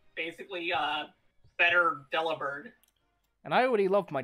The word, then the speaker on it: Delibird: Also, for the people who say that's pronounced Delibird, no, it's not. It's Delibird, because it's basically a pun on the word deliver.